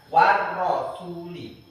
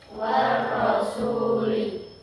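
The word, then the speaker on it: وَالرَّسُولِ: 1 2 3 Warasuli lagi warasuli ya salah satu tandanya asyamsiyah bacanya ditasdidkan ya artinya dimasukkan warasuli ya jadi walaupun ketika membaca Al-Qur'an kadang-kadang kan tidak ada tasjidnya ya pernah menemui pernah tapi karena Dia asyamsiyah bacanya harus ditasdidkan dimasukkan warasuli lagi.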